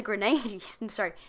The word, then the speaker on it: Grenadines: Vincent and the Grenadines. It looks a lot like grenades. It's Grenadine.